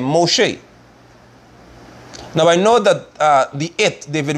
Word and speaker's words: Moshe: Look at what Yahweh said to Israel, to Moshe and Aaron. Look at this. And spoke Yahweh to Moses. His name is Moshe.